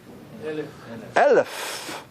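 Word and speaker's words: אלף: No pronunciation. You know, it's interesting also, how do we say 1,000 in Hebrew? Elef.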